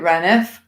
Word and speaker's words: Rainworth: Like there is a place in Nottinghamshire called Rainworth, and some people would call it Reneth. And they were saying with Blidworth, and it was Blideth.